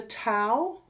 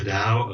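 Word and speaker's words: Tao: which I think is is it the tow or the DA they say it like a a d is a oh do they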